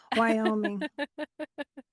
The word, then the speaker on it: Wyoming: It's happening in Wyoming. It's happening in Wyoming. I said Wyoming wrong. Wyoming. I added an extra syllable.